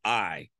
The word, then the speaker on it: Ai: see the town called I it's spelled AI but it's pronounced I they see this town